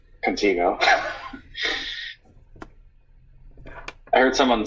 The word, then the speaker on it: Contigo: one as well although I insist that that I be readed is a long e how so Contigo Contigo I heard someone say